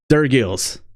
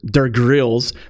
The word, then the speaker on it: Durgils: Durgils. So many people call it Durgils or Durgrills. People love to add an R after the G, Durgrills.